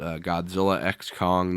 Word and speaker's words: Godzilla x Kong: It was called Godzilla X Kong, The New Empire. Okay. Which apparently the X is silent in, by the way, but I'm going to keep saying X anyway.